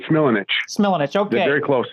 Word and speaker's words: Smilanich: You put an extra syllable in there, Phil, but it's Smilanich.